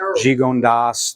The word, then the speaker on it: Gigondas: So that's why you don't say like Vaccara, you just pronounce the S. Cornas, Gigondas, they're all hard-ending words because they're not French.